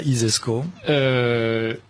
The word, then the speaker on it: ISESCO: i alors l'isesco si vous considérez que ça isesco comme ça se prononce ainsi s donc si vous imaginez le